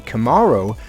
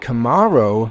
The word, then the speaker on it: Camaro: Took the speed out of that Camaro, or Camaro. I think it was originally pronounced Camaro, but now they're calling it Camaro.